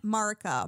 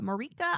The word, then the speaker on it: Marika: lands are ruled by queen marica marika i apologize girl i got your name wrong with your various